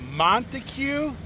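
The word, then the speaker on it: Montague: back roads we are in the town of montue Mont I that's how you say it and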